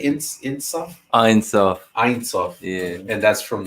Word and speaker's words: Ein Sof: Ein Sof.